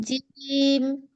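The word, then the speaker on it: جيم: জিমের উচ্চারণটা আপনার হচ্ছে আমাদের যে জিভের মাঝ বরাবর তালুর সাথে লেগে এটা এটা শক্ত হবে, এবং এটা চাপ দিতে হবে, প্রেসার দিতে হবে।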